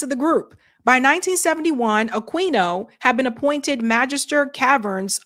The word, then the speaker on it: Aquino: Eric said it's pronounced Aquino. Sorry, Aquino.